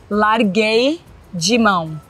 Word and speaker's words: Larguei mão: Larguei de mão. Larguei de mão, like I gave up. Like, you know what? It's not working out. I gave up. Larguei de mão. That's how you pronounce it.